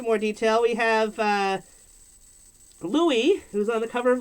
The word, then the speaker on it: Louis: i realized oh that his name is meant to be pronounced louie they like french yeah